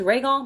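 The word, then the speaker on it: Rhaegal: right Michael the dragon his name is regal that's how you pronounce it anyway recall the dragon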